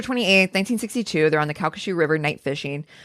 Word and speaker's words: Calcasieu: And she phonetically was like Calcasieu River. I was like, "I love it."